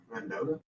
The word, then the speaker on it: Mendota: Mendota?